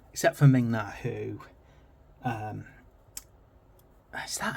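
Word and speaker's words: Ming-Na: so it had some amazing, you know, and Ming Na, yeah, that's how you say it, isn't it?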